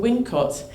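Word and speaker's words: Wilmcote: And there are 2 possible Wincotts. Now, straight away, right? There's 2 possible Wincotts near Stratford-upon-Avon. Nominal coincidence. So you've got Wilmcott, pronounced Wincott.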